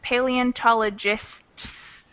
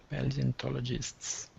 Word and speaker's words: paleontologists: this is paleontologists so we pronounce both the t and the final s paleontologists paleontologists yeah it's kind of